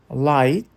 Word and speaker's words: light: Light, night, sight. Aqui o GH é sempre mudo e o I é sempre longo.